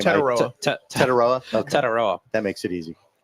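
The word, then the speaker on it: Tetairoa: Tetaroa.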